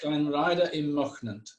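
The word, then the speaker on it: Llanrhaeadr-ym-Mochnant: Llanrhaeadr y Mochnant, and it's very famous for a waterfall.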